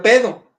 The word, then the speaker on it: paido: Nada más que paido. Así se escribe, pero se tiene que pronunciar pedo. El diptongo griego hace esa pronunciación.